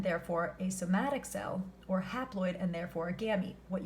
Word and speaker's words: haploid: Now, what I like is haploid kind of sounds like half, right? It sounds like half-ploid.